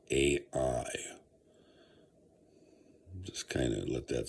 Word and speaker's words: Ai: Interestingly enough, in the Old Testament, and it's kind of also mentioned in Deuteronomy, there's a there is uh uh the king of I, okay, which is the king, and it is spelled AI.